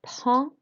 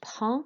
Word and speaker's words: prends: To say I have a snack, we say je prends le goûter. So you'll notice that with the je is fine. With prends, you don't pronounce the D and the S.